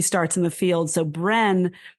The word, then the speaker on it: Brenne: So Bren, spelled B R E N ne which felt like phonetic to how I was pronouncing it back then became the the name